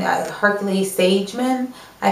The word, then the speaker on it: Hercules-Sagemann: Hercules-Sagemann, I think is how you say it.